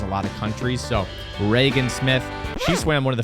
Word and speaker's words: Regan Smith: going to talk about Reagan Smith who in a previous video I pronounced as Regan Smith for the entire video